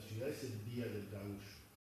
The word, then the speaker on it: gaúcho: Pero del lado brasileño hay un estado que se llama Río Grande do Sul, que la palabra gaucho, que en portugués se pronuncia gaúcho, significa, es el gentilicio de aquel que nació en Río Grande do Sul.